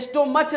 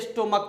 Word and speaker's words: stomach: लेकिन यहाँ आप देखते हैं इसे स्टोमच नहीं पढ़ते, इसे स्टोमक पढ़ा जाता है। बहुत लोग इसे गलत पढ़ते हैं कि इसे स्टोमच पढ़ते हैं, तो वो नहीं, इसका जो प्रोनाउंसिएशन है वो है स्टोमक, स्टोमच नहीं है।